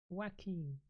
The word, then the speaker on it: Joaquin: free to correct me wacky like Joaquin Phoenix okay um taneema makes